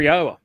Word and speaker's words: Yahweh: So it is this reverence and respect for Yahweh. We are the first to bring uh Yahweh's name, the proper proper pronunciation of it to his people.